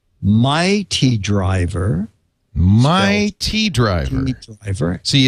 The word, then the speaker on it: My T Driver: is Yes except it's might T T driver my tea driver my tea dri oh yeah you did you